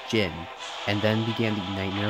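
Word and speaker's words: Djinn: So also, I've made a couple like mispronunciations, like Dijin. I call it Dijin, but it's pronounced Jin.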